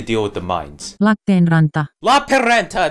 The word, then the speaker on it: Lappeenranta: Lapinranta, that's how you pronounce it.